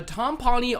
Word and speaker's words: timpani: A timpani are those big old drums.